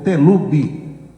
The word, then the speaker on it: Telube: Os familiares formam a sigla telube, com a pronúncia em português, com as iniciais de seus nomes Teresa, T, Luna, Lu e Bernardo, B. Aí ficou Telubi, o nome da empresa que é titulada por um filho do ministro.